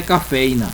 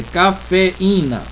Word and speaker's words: cafeína: Então, moído, chiado, baú, lagoa, teatro, soar, cafeína, não é cafeína, é cafeína, afiado, burocracia.